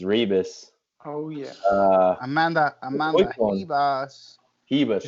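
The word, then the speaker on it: Ribas: Hebas, that's how you say it, right? Did you see her? Yeah, it's like Royce Gracie. You know what I mean? Yeah. Okay. You don't say your R.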